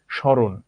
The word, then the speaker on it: স্মরণ: উচ্চারণের সময় দেখব যে ময়ের উচ্চারণ হবে না যখন শুরুতে থাকবে, শুধু কিছুই না, জাস্ট ময়ের প্রভাবের কারণে একটা চন্দ্রবিন্দু চলে আসবে উচ্চারণে, আর কিছু না, একটু অনুনাসিক হবে। স্মরণ, একটু চন্দ্রবিন্দু চলে এসেছে, এছাড়া আর কিছুই না।